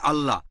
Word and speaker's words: আল্লাহ: বৈশিষ্ট্যের নাম হচ্ছে আল্লাহ তারা লেখে আই এল এ তবে উচ্চারণের সময় আমরা তাদের উচ্চারণ করতে শুনি আল্লাহ আশা করি উত্তরটা পেয়েছে